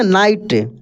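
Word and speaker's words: night: from morning to नाइट यहां पे देखिए जी एच क्या है साइलेंट है एन आई जी एस टी हम लोग लिख रहे हैं लेकिन जी एच साइलेंट है कैसे पढ़े नाइट ठीक है एफ आई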